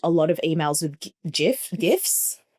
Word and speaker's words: GIF: not relevant, but like it's GIF, guys. Graphic equals GIF. Get so over true. it. Graphic. Okay, so because you know BuzzFeed loves a GIF.